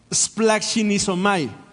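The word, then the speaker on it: σπλαγχνίζομαι: Se pronuncia splachinizomai.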